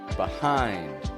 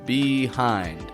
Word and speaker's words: behind: Words about placement of things like before, behind, below. Don't pronounce the E in the beginning. I don't say it like before, behind, below, but before, behind, below.